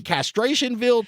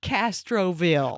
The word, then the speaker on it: Castroville: And we're coming to you live from the little trailer park in Castrationville, Texas. It's Castroville. Oh, well, Castroville. mispronunciation. Yes.